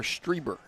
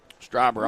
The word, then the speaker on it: Stryber: Is it Stryber or Strieber? Stryber, I was right.